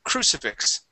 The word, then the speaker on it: crucifix: the word crucifix so stress at the beginning of the word crucifix crucifix all right very